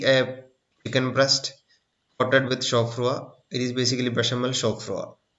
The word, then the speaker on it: chaud-froid: It is pronounced as chaud-froid.